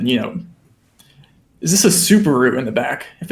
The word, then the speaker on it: Subaru: Oscar's the type of guy to say Subaru. No. We say Subaru.